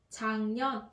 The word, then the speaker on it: 작년: Số 3 mình sẽ phát âm là 작년. Các bạn nhớ, 작년 chứ không phải là 작년.